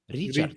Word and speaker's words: Richard: Richard starts with a soft R. So I had to learn how to say it every time I had to introduce myself. Right. Richard.